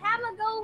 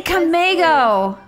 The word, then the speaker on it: Camoo: here is made by camoo one1 oh yeah how you say it's she says camoo oh I always say Cameo I say that wrong too I said your